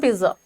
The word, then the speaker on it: pizza: I want pizza, he wants pizza, we all want pizza. By the way, do you know that the proper pronunciation of this word is not pizza? It is pizza.